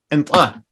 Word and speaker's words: antla: Your first word, antla, means yes. How do I spell it?